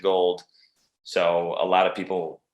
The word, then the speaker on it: Gould: know robbie gold who spells it the same way as me gould but he pronounces it gold so a lot of